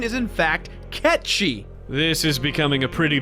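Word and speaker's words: Cait Sith: really annoying dude the game calls Kate Sethe Kate's it but the correct pronunciation is in fact catchy this is becoming a pretty big mess Reeve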